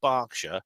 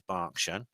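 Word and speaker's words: Berkshire: clever so this copied from the web the pronunciation of barkshire is not historically based is mainly a regional preference correct pun correct pronunciation of the English historic count is Barsha the name Barsha comes from the Celtic word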